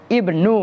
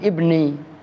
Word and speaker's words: Ibnu: membacanya begitu wa qola Abdullah Ibnu bukan Ibni telah berkata siapa Abdullah